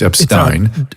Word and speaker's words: Epstein: n d r e p s i n pronounced Epstein Dr R Epstein there's an r d r